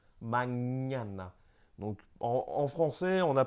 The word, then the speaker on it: mañana: C'est un équivalent du GN français. Donc, par exemple, on a mañana, mañana.